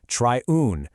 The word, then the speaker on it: triune: Well, the central idea is something called the triune field, and just so you know, that's pronounced triune with a long I sound, like in time.